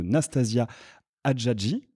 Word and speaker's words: Nastasia Hadjadji: Je suis très heureux de vous retrouver aujourd'hui en compagnie de Nastasia Hadjadji. Je prononce bien ?